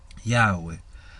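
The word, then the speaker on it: Yahweh: el tema es que no son tres sílabas son dos sílabas por eso es que el jagüe no no resalta y Ajá güey Sino que es un Yahoo es un yagüe que suena más parecido al primero ya güey sí Entonces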